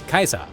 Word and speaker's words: Caesar: His people would speak with a Latin-imbued dialect, pronouncing Latin words in the way of their Roman role models, with the title Caesar, for example, being pronounced as Kaiser.